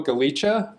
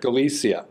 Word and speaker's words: Galicia: jerk yes correct : print Wow okay geo Goleta galicia galicia right all right this is the directorial debut